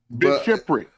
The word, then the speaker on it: bishopric: Bishopric.